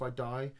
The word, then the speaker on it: id Software: 2016 though comes around and id Software, I'm going to say it right, id, not ID.